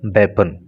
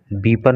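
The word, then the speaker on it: weapon: For disposing of द वेपन, देखिए इसका जो प्रोनाउंसिएशन होता है वो वेपन होता है, बीपन नहीं होता, वेपन, हथियार।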